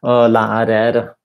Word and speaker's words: lærer: So, lærer. No, it's not the same as in words like har. So it's basically short e and an r, like this, like the Spanish R, basically, or the French R.